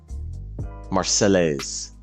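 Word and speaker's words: Marseillaise: Oh, someone gave me the correct pronunciation of her name. Marcelise.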